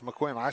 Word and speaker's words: McQuinn: It's McQuinn.